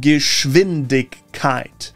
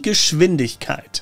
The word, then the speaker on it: Geschwindigkeit: The SCH in Geschwindigkeit is always pronounced sh, and that W is like a V. So it's like Geschwindigkeit and not Geschwindkeit. Die Geschwindigkeit. Geschwindigkeit.